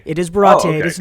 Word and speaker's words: Baratie: They went with the French pronunciation. It is Baratie. It is Baratie.